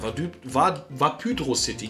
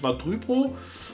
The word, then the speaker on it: Vapydro City: Genau, Vapydro City. Nicht Vardrypo, sondern Vapydro City. Ne? Muss man so ein bisschen aufpassen mit der Betonung.